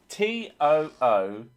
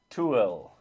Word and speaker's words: Tooele: Tooele. Tool. Because it looks like pool, which is an area around here, although it's got an added E, which is Poole.